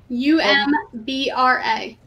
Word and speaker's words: umbra: in the Discord chat umra or ombra u m b r a Umbra is the proper pronunciation o or uh I